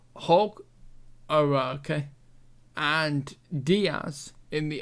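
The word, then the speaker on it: Hauge: guy either um and then h a u g e hog hog okay and Diaz in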